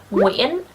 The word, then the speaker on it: Nguyễn: And it is pronounced Nguyễn, not Nguyen or Nguyen, okay?